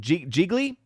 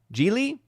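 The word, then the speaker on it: Gigli: A movie that had a drop-off so bad that it's actually now comparable to the film, was it Geely? Geely? I think is how it's technically pronounced.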